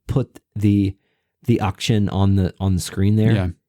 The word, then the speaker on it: Achtzehn: It is pronounced Achtzehn.